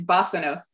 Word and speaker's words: basanos: And she's talking to us today, I won't pronounce it right, the digital basanos? Is that right? Remind myself, it's basanos.